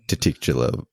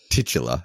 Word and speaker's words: titular: werewolf the werewolf the how do you say that word titicula werewolf is that did I say that word right I don't know what I don't know why are you talking about it titular yeah yeah okay yeah